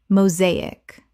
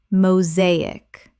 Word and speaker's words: mosaic: mosaic Common mispronunciation. mosaic Correct pronunciation. mosaic Three syllables with the stress on the second.